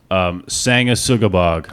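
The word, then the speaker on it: Sanguisugabogg: Brandon, could you tell me how to pronounce the name of this band? Sangasugabog.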